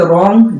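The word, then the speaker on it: wrong: कनाइफ नहीं बल्कि नाइफ, के साइलेंट है, औरंग नहीं बल्कि रॉन्ग, W साइलेंट है, कनॉलेज नहीं बल्कि नॉलेज, के साइलेंट है।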